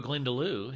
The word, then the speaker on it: Glendalough: Here we go, Glendalough.